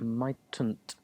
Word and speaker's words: mightn't: Might not, mightn't. A little bit tricky with pronunciation in that one.